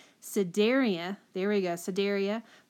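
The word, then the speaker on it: Cnidaria: cenar d a-- i never say it right Siderius there we go so daria platyhelminthes nematoda and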